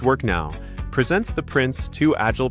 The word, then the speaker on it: WorKnoW: Warno W pronounced work now presents the Prince to Agile Practitioner version 2 course designed for today's dynamic project landscape.